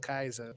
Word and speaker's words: Kaizo: It's pronounced Kaizo.